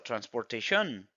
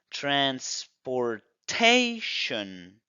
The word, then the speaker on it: transportation: Transportation o Transportation transportación muchos dicen eso transportación pero no la regla nos dice que es Transportation tenemos el apóstrofe antes de tation por lo tanto esas zonas se va a pronunciar fuerte Transportation yo te lo coloqué